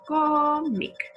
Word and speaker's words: cómic: Siguiente ejemplo, cómic. Cómic es una palabra llana y como no termina en N, en S ni en vocal, le ponemos una tilde en la sílaba tónica, en co.